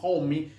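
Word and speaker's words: Homme: Zeppelin y el gran Josh Homy, se pronuncia así, Homy.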